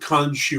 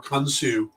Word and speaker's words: Khonshu: want to pronounce it, and Khonshu or Khonsu, again, also how you want to pronounce it.